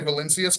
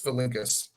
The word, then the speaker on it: Valincius: I used to say Valincius, but it's Valincius. 6 innings.